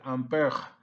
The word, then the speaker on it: ampere: Ampere some pronounce this as ampere because it's French. So being French it is sounds like ampere or just ampere.